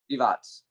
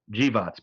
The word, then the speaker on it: Grzywacz: Grzywacz. Grzywacz. Grzywacz.